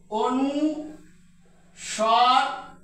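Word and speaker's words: অনুস্বার: খন্ড ত অর্থাৎ তর খন্ডরূপ হল এইটা এই বর্ণটি এজন্য এটাকে বলায় খন্ডত তারপরে এটাকে আমরা উচ্চারণ করি এটাকে উচ্চারণ করতে হবে অনু সর বা অনু সার অনু সর বা অনু সার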